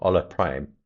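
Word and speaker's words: Hola Prime: Um, you can get me on Ola Prime TV. 8:30 a.m. New York. That's every weekday. That's H O L A prime. Ola prime. You don't pronounce the H in Spanish apparently.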